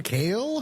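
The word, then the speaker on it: Kael: forget the movie reviewer the late great Pauline kale how do you pronounce that Stephen oh yeah yeah you've got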